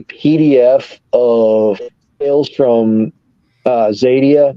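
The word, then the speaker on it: Xadia: of sales from uh zadia that's spelled with an X yeah um look at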